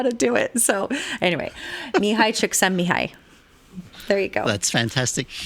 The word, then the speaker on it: Csikszentmihalyi: Okay, so what we're talking about is a book called Flow by Mihai Csikszentmihalyi. Thank you. I can't do that, and I seriously can't actually pronounce his name.